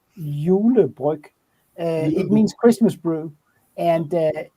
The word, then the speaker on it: Julebryg: Yeah, and how's that pronounced? Julebrig. Julebryg.